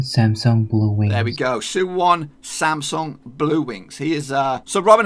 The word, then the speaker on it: Suwon Samsung Bluewings: it is Suwon Samsung Bluewings now if I butchered that name maybe but this is the how you're supposed to say it it's Suwon Samsung Bluewings the last two was pretty easy and just